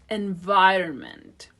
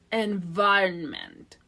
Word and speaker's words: environment: serve its function environment this word has two different pronunciations in American English the first one is environment and the second one is environment the first one environment the first syllable is unstressed I possess that you